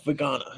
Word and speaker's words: Vagana: Yeah, Vagana. Yeah, it's a hard G.